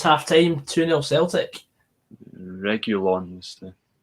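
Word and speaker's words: Reguilón: Regulon is the... Regulon, is that how you pronounce it? Who? Regulon, that left back guy. Oh, Reguilon, yeah. Reguilon, that's it.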